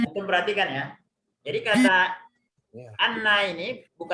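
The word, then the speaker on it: أنّ: Ini bacanya bukan inna tapi anna. Kenapa anna? Karena dia sambungan dari kalimat sebelum, bukan kalimat awal ya.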